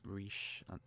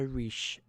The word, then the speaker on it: riche: In these days of nouveau riche, I think that's how you pronounce riche.